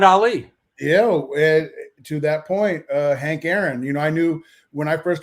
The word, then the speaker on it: Hank Aaron: around and be like, Hank Aaron, Hank Aaron. I thought it was Ank, like A-N-K. I didn't even know how to say it, but everybody's like, well, who's got Hank Aaron?